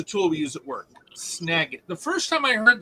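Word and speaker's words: Snagit: okay s n a space i t it's pronounced snag it and it's a tool we use at work snag it the first time I heard that though my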